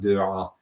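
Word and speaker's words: Beauraing: And there are other ones that are not as well known, like it's spelled like Buerang, but I think it's pronounced Buerang in Belgium in the 1930s.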